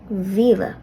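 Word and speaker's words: mhíle: An H will be added after the M in Mila, so it says lenition again, or shevu, and the sound will change from to V. Mila to Vila.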